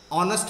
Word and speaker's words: honest: An honest, यहां भी वही स्थिति है, ऑनेस्ट में एच साइलेंट है और ये वावल साउंड से है, इसलिए इसके आगे एन का प्रयोग किया जाएगा।